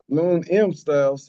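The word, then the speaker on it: Lune M Styles: Lon M Styles, how you spell it? Uh the M is basically silent. So L U N E M Styles.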